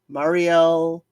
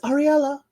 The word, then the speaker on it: Ariella: It was Ariel, Marielle, and she keeps saying, it's Ariella.